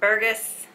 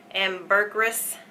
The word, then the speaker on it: ambergris: vanilla Jasmine ginger and Burgas I'm saying it wrong ambergris and sandalwood and one